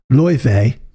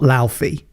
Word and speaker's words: Laufey: And the recent one for me was Loife, not Laufey. Damn Scandies.